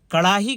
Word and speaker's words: کڑاہی: دیا تھا انہوں نے۔ وہ تلفظ میں ہے آتا نہیں ہے اکثر و بیشتر، خاص طور پہ جب بیچ میں ہو، انہوں نے وہ تلفظ